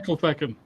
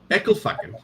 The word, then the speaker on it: Ecclefechan: I need to know how it's pronounced. I need to know. Oh, just say Ecclefechan. Ecclefechan.